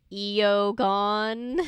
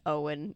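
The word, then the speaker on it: Eoghan: the guy's Jersey and she's like eogon and he turns around he goes it's Owen and I just like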